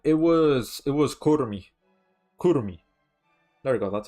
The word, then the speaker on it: Kurumi: Kurumi. There you go. That's how you pronounce it.